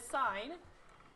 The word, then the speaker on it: sine: So in sine, it's just written, we write as S-I-N. So this is pronounced sine A, and it's the opposite leg of hypotenuse, where A is the angle here.